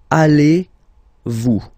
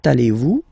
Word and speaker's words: allez-vous: So the first question, how do you do in French is comment, so how, comment, allez-vous? And then, same thing here, little link between the two. Comment allez-vous?